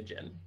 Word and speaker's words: Djinn: Is it The Djinn? Is that how you say it? That is how you say it, yes. The Djinn.